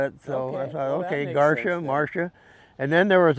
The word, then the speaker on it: Garcia: the other day and he says no that's not how they say it on the Milwaukee because I said it the other way no that is how they say it under Milwaukee and most people I said Garcia yeah most people assume it as Garcia but it's Garcia and that funny made